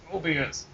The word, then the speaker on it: Mobius: It's Mobius. Like a loop.